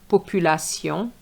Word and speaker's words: population: population which is population. So remember the A in French is a. So you cannot say A population.